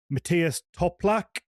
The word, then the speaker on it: Matthias Toplak: And yeah, and then today's guest is Matias Toplac. I didn't ask you before. Is that how we pronounce the the surname?